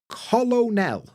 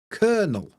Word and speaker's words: colonel: at this word colonel colonel no it's kernel we can you can see we've got this long e sound uh which is like the three and then you can